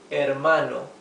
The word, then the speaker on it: hermano: The word for brother is mano starting with H or ae mano.